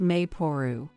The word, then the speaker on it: Maple: But you know, I saw this name online, written as Maple but pronounced Mayporu.